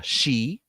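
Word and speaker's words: Sidhe: Or instead of the she, as it's pronounced, which is a type of Fey folk, we now have Nordics, Anunnaki.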